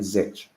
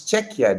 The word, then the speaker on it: Czech: Why do I keep on calling Z? I'm pronouncing it how it's spelled. It's Czech. I know it's Czech Republic. I don't know why I keep on saying Z.